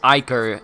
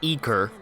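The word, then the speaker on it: Ichor: It's not going to import my skills, my level ups, my Iker. I hear people say that it's pronounced Iker and not Eker.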